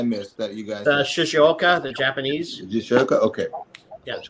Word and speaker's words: Shizuoka: I mean the Shizuoka, pronounce that again for me. Shizuoka. Shizuoka.